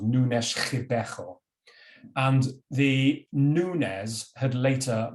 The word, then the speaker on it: Nunes Ribeiro: Again, I'm told this should be pronounced Nunes Ribeiro.